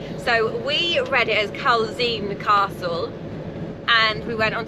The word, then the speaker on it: Culzean: So we read it as Culzean Castle, and we went on to pronunciation and they said Culzean Castle. So you drop the Z apparently. So I've clicked on another pronunciation video and then they said Culzean Castle.